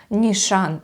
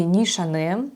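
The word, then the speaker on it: Nishane: Дальше у нас Нишан или Нишане. Я долго искала, как правильно произносится этот бренд, и печатные источники говорят, что Нишан, а все остальные, да, в основном на YouTube я смотрела, все произносят как Нишане.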